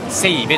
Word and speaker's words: ZEIBE: を発音しないのでセイベと読みます。